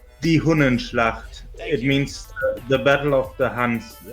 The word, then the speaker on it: Die Hunnenschlacht: Franz Liszt's symphonic poem Die Hundenschlacht premiered in Weimar. Yeah, that was the capital of Germany for some time, but the pronunciation is Die Hunnenschlacht.